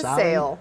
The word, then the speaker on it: Sale: I think it's a Sale. Okay, Sale. That's what I've heard. Come sail away, come sail.